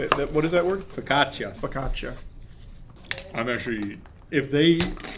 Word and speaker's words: focaccia: This time it's the focaccia. That's not how you say it. What is that word? Focaccia.